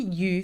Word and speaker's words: eu: Well, past participle the past participle of avoir is u u and it is spelled e u. Okay. Though some of you might say what I thought eu together makes the sound uh it doesn't in this context.